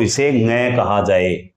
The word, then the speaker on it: ङ: ङ कहा जाएगा, वह ङ यह है। तो ध्यान रखें, ये नासिक की ध्वनि है और इसका उच्चारण ड नहीं है बल्कि लगभग ऐसा उच्चारण है इसका, ङ।